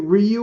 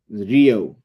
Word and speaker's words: Riyo: Is it Ryu or is it Rio? Rio.